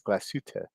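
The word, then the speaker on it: Glashütte: Three syllables. Glasuta, glasuta.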